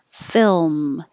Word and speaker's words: film: a camera and 26 film it helps if you make your l before you close your lips so there's no extra film but hold it there the whole time and then l position film film well i